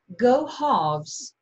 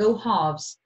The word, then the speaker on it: go halves: Go halves. Δεν προφέρω καθόλου το L. Go halves.